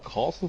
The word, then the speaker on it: Kassel: Kassel, wie Basel, einfach mit einem K.